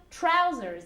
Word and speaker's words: trousers: dressers trow trousers okay be careful with the pronunciation of trousers again you have this new sound that doesn't exist in Spanish trousers ok chooses sound trousers in general um trousers in